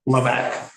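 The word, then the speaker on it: Hlavac: part of my name the harder part is HL a v a c don't even try to pronounce it just remember got your back laac laac is my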